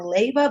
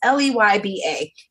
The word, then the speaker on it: Leyba: So that book, Girl Code by Kara, and again, I'm sorry, I want to say her name wrong, Leyba, but it's Leyba.